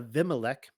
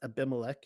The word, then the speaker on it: Abimelech: milo and went and made a vimalek um he would be pronounced abimelech in in the english and made avimalic king